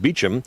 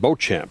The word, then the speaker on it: Beauchamp: The Old English ancestors pronounced it Beecham, but the Americans called it Beauchamp, and so he shortened it to Champ.